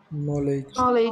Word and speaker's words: knowledge: Knowledge. Knowledge. Which letter silent? K. Only K? D also. D also.